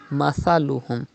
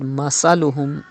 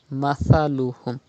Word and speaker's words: مثلهم: You know, Tha is pronounced without whistle. Mathaluhum. If you read Masaluhum, it is not correct. Read Tha without whistle. Mathaluhum.